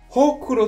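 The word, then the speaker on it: 黒子: 日本語では黒い子と書いて、ほくろと読みますよね。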